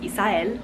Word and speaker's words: Isael: Isael obviously is very Spanish sounding, pronounced Isael in Spanish.